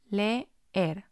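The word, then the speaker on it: leer: make two different syllables has two letter e's and because the e is a strong vowel this is going to have two syllables le er a strong vowel next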